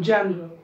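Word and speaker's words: general: परंतु म्हणताना तो शब्द म्हणताना त्यातला जो ई आहे ना तो म्हणायचा नसतो डायरेक्टली जनरल, जनरल.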